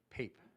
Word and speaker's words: Pape: you say your name pape pape like paper without the art how do they say